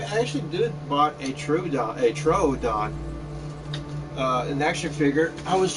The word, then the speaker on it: Troodon: O's, two O's, you kind of have to pronounce like kind of like a U. So I kept calling it Troodon. But eventually it's like, no, it's Troodon. Troodon. So I was like, okay, so it's Troodon.